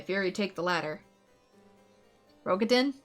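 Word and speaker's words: Raubahn: he' take the ladder rogin it's pronounced rogin okay sorry fleeing those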